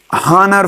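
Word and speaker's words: honour: This is a dash हॉनर फॉर मी। यहाँ पर an article, यहाँ पर एन लगता है आर्टिकल, क्योंकि एच साइलेंट है, हॉनर में एच साइलेंट है।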